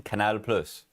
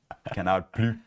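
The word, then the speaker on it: Canal+: Canal Plus. So it's like it's a plus sign, but they think they're still French. So Canal Plus.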